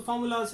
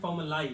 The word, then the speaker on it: formulae: सो इसकी जो correct pronunciation होगी वो क्या होगी? फॉर्मूली, लास्ट में ली आएगा, ठीक है। कुछ बच्चे इसको प्रोनाउंस करते हैं फॉर्मूलाई, फॉर्मूलाई नहीं है, फॉर्मूली, ठीक है।